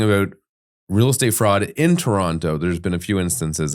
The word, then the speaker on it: Toronto: his to rent out Toronto Toronto listen Okay I I pronounce the T okay let me start